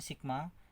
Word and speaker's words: sigma: S3 sigma, sekali lagi bukan bacanya suku ya, bacanya sigma atau jumlah 3 suku pertama adalah U1 tambah 2 tambah U3 ya.